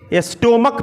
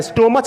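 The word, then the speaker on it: stomach: मो नार्थ-इस्ट रो मत स्टोमक कहा जाता है स्टोर्मद नहीं इसको मत पड़ जाता है स्टमक तो आप इसमें क्या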